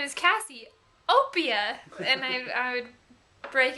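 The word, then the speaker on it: Cassiopeia: people my name is Cassie Opia and I I would break it up into two and my mom's like no you had to say it like real quick right together cassieopia I said Cassie Opia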